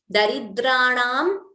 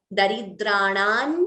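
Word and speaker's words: दरिद्राणां: Daridranam Chintamani Gunanika. So the Anuswara followed by Cha gets replaced by the Anunasika of Chavarga. So instead of Daridranam Chintamani Gunanika, we could chant it as Daridranan Chintamani Gunanika.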